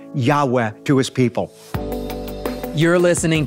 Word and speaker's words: Yahweh: in the consonants and because the Hebrew began to be pronounced in English from a yah to a j so rather than being pronounced Yahweh the church says Jehovah